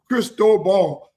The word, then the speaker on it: Cristobal: Cristobal. His name is Mario Cristobal.